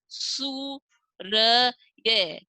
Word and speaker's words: सूर्य: जैसे सु र ये, तो बोलेंगे कैसे, सूर्य।